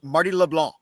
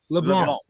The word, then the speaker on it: LeBlanc: The C is silent. Just Marty LeBlanc. LeBlanc.